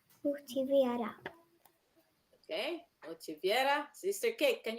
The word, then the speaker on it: motiver: Motivate po in French is motiver. Motivate. You don't pronounce the R? No po, it's silent.